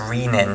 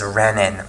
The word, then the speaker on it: renin: is riemann okay now really this should be pronounced to riemann to distinguish it from rennet which it has the double n here and the single n here okay but people often pronounce this as a renin rather than rena now this lemon or riemann